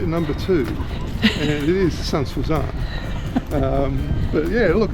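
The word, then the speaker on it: Sainte-Suzanne: We'll actually have it written up, so it's spelt S-A-I-N-T-E, which is Sant, and Suzanne, as in S-U-Z-A-N-N-E. So Saint-Suzanne, and it's not Santi Suzanne. it's not Santi Susan or Suzanne.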